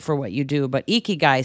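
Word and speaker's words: ikigai: I I subscribe to a Japanese philosophy called eeky guy that's spelled i k i g a i eeky guy and it's um about a purpose-- Driven Life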